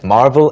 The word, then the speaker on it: marvel: V가 B로 바뀌면 대리석을 가리키고 여기에서는 marvel. Right. V 발음이죠.